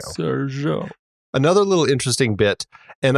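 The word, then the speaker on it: Seargeoh: found online it's like Serio Serio it's like a French Sergio Serio another little interesting bit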